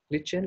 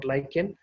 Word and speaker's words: lichen: a organism called as a lichen lichen or lycan anyway you can pronounce it so this lycan is